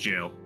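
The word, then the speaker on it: gaol: word g g a o l mhm is pronounced jail oh yeah jailbreak I learned that from anime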